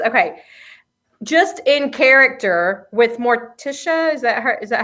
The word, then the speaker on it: Morticia: yep the gomez okay just in character with morticia is that her is that how you say